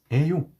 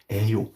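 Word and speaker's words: 예요: using the vowel version, a yo, yes, you do have a double vowel that looks like ie, but never actually pronounce the y sound, just pronounce it as if it is a.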